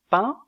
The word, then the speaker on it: pain: mot brun la voyelle 1 comme dans le mot pain est une voyelle mi ouverte antérieure est nasale mais elle est étirée tandis que la voyelle 1 du mot brun est arrondi donc la prononciation diffère au niveau de la labialité un de pain est étiré un de brun est